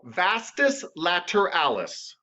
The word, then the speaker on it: vastus lateralis: it's hard it's latter alice beautiful okay so vastus later alice yes you're doing great i know l's are